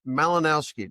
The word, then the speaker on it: Malinowski: We're going to have a fun conversation today with a gentleman named Malinowski. Did I pronounce that right?